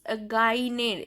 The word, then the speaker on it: gagner: Then the next verb is gagner. This second G is silent.